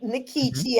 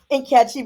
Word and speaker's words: Nkechi: very names and so I decided to keep my pronunciation nikichi as opposed to in CI because I theorized well